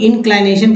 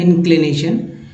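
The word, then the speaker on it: inclination: इंक्लिनेशन कुछ लोग इनक्लाइनेशन कहते हैं, जबकि ये पढ़ना है इंक्लिनेशन, चूंकि उच्चारण ही ऐसा होता है।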